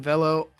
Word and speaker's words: Velo: pronounced Velo Orange.